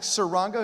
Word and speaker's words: Saranga: us to connect I'm hoping I'm going to say it right is it uh sir Wanga saranga who's going to be